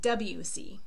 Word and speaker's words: Debussy: It's like the letters W and C, Debussy.